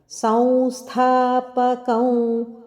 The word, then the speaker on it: ಸಂಸ್ಥಾಪಕಂ: ಕೊಟ್ಟು ಹೇಳಬೇಕು ವ್ರಜಪ್ರಿಯಂ ಧರ್ಮ ಸಂಸ್ಥಾಪಕಂ ವೀರಂ ಧರ್ಮ ಧ ಮಹಾಪ್ರಾಣ ಹಾಗೆ ಸಂಸ್ಥಾಪಕಂ ಸಂಸ್ಥ ಇಲ್ಲಿ ಸಂಸ್ಥ ಅಲ್ಲ ಅನುನಾಸಿಕ ವದ ಉಚ್ಚಾರಣೆ ಸಂಸ್ಥಾ ಥ ದ ಒತ್ತು ಇರುವಂತದ್ದು ಮಹಾಪ್ರಾಣ ಸಂಸ್ಥಾಪಕಂ ಇಲ್ಲಿ ಕ ದ